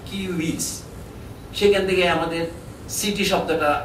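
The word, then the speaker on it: civis: ইংরেজিতে সিভিস বলে এটাকে। গ্র্যাটিন উচ্চারণ হবে কিউইস।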